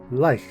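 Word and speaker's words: lych: The first part of that word, the one we're interested in, can sometimes be spelled with a Y and pronounced with a long I and hard K sound, Lich.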